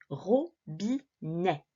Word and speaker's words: robinet: Ah, voilà le E et le T. Ils sont bien à la fin du mot. On va donc les prononcer est, robinet.